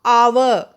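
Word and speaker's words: hour: have sound of ah our here H is silent that's why with house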